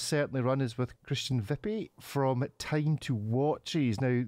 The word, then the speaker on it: Wipfli: We are delighted to welcome to the show a slightly nervous, non-English speaking Christian Wipfli. Now, I will almost certainly have pronounced your surname incorrectly, Christian. Yes, it's right. Wipfli.